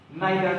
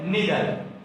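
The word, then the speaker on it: neither: তো আমাদের বর্তমান যে পার্টটা সেটা হচ্ছে নাইদার নট। অনেকে এটাকে উচ্চারণ করেন নিদার। সো আপনি এটাকে নিদারও বলতে পারেন, নাইদারও বলতে পারেন।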